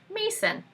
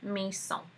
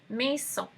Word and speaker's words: Maison: So the next series of brands, they all start with Maison, or in some other pronunciations, Mason. But just know that it's French for Maison. Maison.